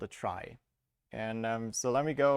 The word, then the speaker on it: trie: uh awkward naming convention it's spelled like in retrieval but pronounced like try to not have another word that sounds like tree um and uh it